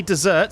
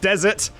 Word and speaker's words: Desert: By the way, oh sorry, Frosty Dessert says, my name isn't dessert, like what you have after dinner. It's pronounced desert, like the hot sandy places.